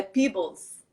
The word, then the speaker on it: Peebles: E, como é que pronuncia o seu último sobrenome? Que eu tô sempre aqui na dúvida. É Peebles, é um nome Peebles.